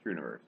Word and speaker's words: Struniverse: No, STR, yeah, Struniverse. It's like STR with the universe, but it's pronounced Struniverse.